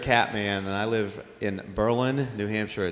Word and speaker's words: Berlin: and I live in Berlin New Hampshire not Berlin it's Berlin if you say Berlin they know you're not from here and as he says